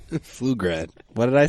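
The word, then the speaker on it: Pflugrad: Flugrad. What did I say? You said ploof. You pronounced it That was with the P.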